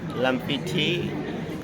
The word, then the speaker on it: Lamfiti: Surname is Lamfiti.